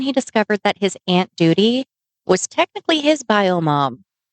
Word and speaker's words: Doodi: Some years later, his Aunt Doody. It's spelled Doodi. Do you not read that as duty?